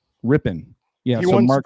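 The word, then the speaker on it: Rypien: How do you pronounce that last name, Rambo? Ripien? Rippin.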